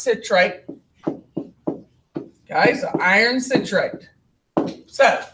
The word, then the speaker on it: citrate: Okay, it's pronounced citrate.